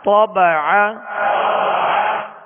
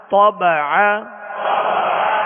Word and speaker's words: طبع: طبع. طبع. طا کو پر پڑھیں گے اور عین کو درمیان حلق سے ادا کریں گے.